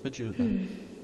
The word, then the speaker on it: Majula: It's pronounced Majula.